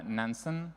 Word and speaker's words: Nansen: I'm an engineering manager at nansen as a I guess like any good Norwegian would pronounce it and for those of